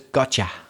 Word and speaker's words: gotcha: i understand you gotcha it's really got you but it comes out as gotcha and people often will